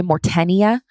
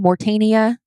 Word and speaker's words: Mauritania: in the eye of the saharia Sahara in Mauritania Mauritania yeah I'm always nervous about pronouncing that one because I want to say mortenia because of how it's spelled yeah that's not the correct way to